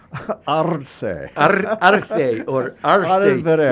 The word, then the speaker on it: Arce: But in Puerto Rico, Arce. They roll the R's. It's Arce, and they also say there's parts of the regions where they don't pronounce.